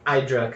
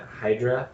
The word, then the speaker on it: Hydra: talked to a lot of Greeks and it's pronounced I drunk cuz everyone else had been pronouncing it Hydra Oh God and this guy was just the